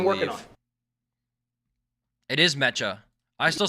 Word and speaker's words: mecha: pronounce it. It's like a Japanese word, I And believe. working on. It is mecha. I still say mecha though, because Look at the difference.